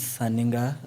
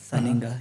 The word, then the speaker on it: Sirr Ninga: Yeah, the name is Sirr Ninga, the way it is on the socials, the way it's written, the way it's pronounced, Sirr Ninga, yeah.